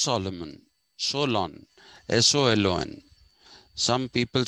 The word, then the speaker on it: Solon: some people say solon some people say so long i think it is so long because greeks have a tendency to drag the word the last syllables they dragged them okay so this is